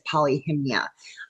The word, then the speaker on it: Polyhymnia: I'm going to pronounce it as Polyhymnia.